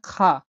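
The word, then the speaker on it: خاء: পরবর্তী হচ্ছে খা। খা বা খ, এটা গলা দিয়ে বের করতে হবে।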